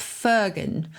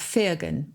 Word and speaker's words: firgun: and jewish culture and and yiddish and that's fergan so f-i-r-g-u-n is sometimes pronounced fergan as well it's unselfish pride so it's kind